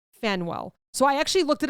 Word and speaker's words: Faneuil: This is like mentioned a lot, so I didn't know how to say it because it is spelled Faneuil. Fenwell.